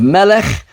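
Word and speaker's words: מלך: right here we have Melech um men lamid cough so that's a cough and there this is not a dagesh this is not say a stop it's still a spirit the dots are A's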